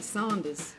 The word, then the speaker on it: Saunders: So you say it like me, Saunders.